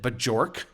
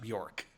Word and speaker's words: Björk: She did something, and so I wrote the script, and the newscaster she was going to read it, and she pronounced it Bajork.